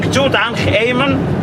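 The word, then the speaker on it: Tutankhamen: how the ancient egyptian people write it and pronounce it king tutankh amen he was a king ruling egypt for only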